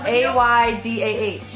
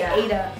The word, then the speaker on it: Aydah: Because her name is spelled A-Y-D-A-H. But you don't pronounce the H whenever you say Aydah.